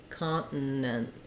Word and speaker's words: continent: the t is optional it's more that it's a stop to here com continent um so that means that my if file is also going to be very short it's going to sound kind of like comp where I just stop that n Kant um an N by itself and and then kind of an uh plus an N with another short stopped n so the reason I